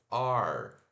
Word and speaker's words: are: be que é o ar tá esse ar deixa eu fechar aqui aqui ele escreve a r e se pronuncia dessa forma aqui ó o a que a gente engole esse a e o